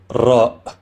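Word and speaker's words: ر: Next is the letter Ra, which is pronounced like the letter R, but with a roll, right? We say Ra, we don't say Ra.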